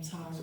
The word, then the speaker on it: Tarrey: And it's pronounced just like the video game, Tarrey. Like Atari.